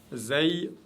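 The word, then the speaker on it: زاي: Zay, toujours légère, aucune exception. C'est le Z de la langue française prononcé légèrement. Za, et non pas za.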